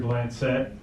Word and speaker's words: Blancette: violence awareness good morning my name is mr blancette or mr if you want to pronounce it that way some of you all struggle a little bit with the bland set part but mr will